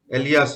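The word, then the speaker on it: alias: समझ में आ रहा है कि np क्या है, np क्या है, एक है एलियास है ना, इसको इसका प्रोनाउंसिएशन ऐसे होता है, एलियास।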